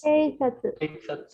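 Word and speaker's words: 警察: Ahora, aquí sí la U la vamos a leer. No, la U se lee porque en este caso no es la sílaba su la que tenemos, sino tenemos la sílaba tsu, TSU. Bueno, entonces en este caso la U se lee, no se puede omitir. ¿Sí?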